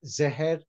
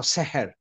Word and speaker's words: Zohar: Yes, Zohar is pronounced Zeher amongst the Sephardi Jews. Yes, or Seher. Many Sephardi Jews openly say Seher, but now in Israel, the language has been modified, so they pronounce it differently.